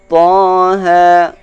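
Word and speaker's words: طه: Membaca Taha ini, cara mengucapkannya harus diurai seperti huruf ta, sesudahnya ada alif, maka dibacanya Ta. Ha, ada ha, kemudian ada alif. Taha. Maka ketika kita urai, tidak kita temukan setelah bacaan ta atau ha itu hamzah atau tasydid.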